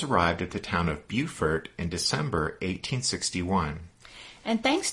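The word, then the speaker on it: Beaufort: at the town of bufor in December 1861 and thanks to listener Bill C for letting us know that in South Carolina b e a u f o r t is pronounced Buford right so after Reynolds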